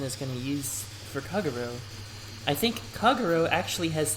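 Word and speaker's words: Kagerou: Kagero, just say it like that, Kagero.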